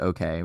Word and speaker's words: OHKAY: And so built a brand called OK, which is spelled OHKAY.